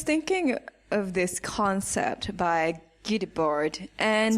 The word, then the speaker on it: Guy Debord: So I was thinking of this concept by Guy Debord, and That's how you pronounce his the name.